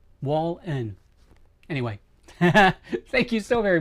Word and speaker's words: Wallen: I've had people mispronounce my last name so many ways. It's like it how how w a len. That's it. Wallen.